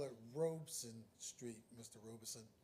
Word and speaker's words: Robeson: Robeson. We call it Robeson after Paul Robeson. That's how his family pronounces it.